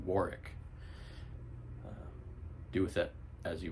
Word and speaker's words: Warwick: learned recently that uh we've all been pronouncing Warwick ROM that it's silent W Warwick do with it as